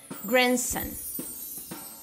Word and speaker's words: grandson: Grandson, grandson, que é neto. Bridge, bridge, que é ponte, tá? Então, nessas palavras, o D não é pronunciado.